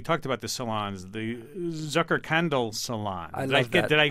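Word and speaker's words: Zuckerkandl: the Zucker we talked about the salons the Zucker candle Salon did I pronounce that correctly very well I like that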